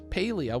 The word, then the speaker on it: Palia: Paleia, we learned it's pronounced.